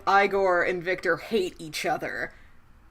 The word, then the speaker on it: Igor: He's like, no, it's pronounced Igor.